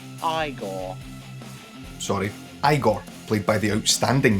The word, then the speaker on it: Igor: Frankenstein is aided by Igor, played by It's pronounced Igor.